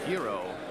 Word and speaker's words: gyros: and I got myself a hero. Yeah, and those are the gyros spelled like gyro, but that was really good.